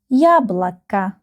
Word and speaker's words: яблоко: Яблоко. The first syllable is stressed. Яблоко. Яблоко. We remember the rule that these two O, they are not stressed and we pronounce them like A.